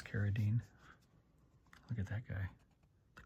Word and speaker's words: Carradine: Carradine or Carradine. The proper pronunciation is Carradine.